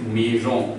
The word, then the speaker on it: maison: S coming in between vowels, so it will give Z sound. And O and I have taught you, this is on, so altogether it is maison. If you compose all the syllables together, it will give sound maison.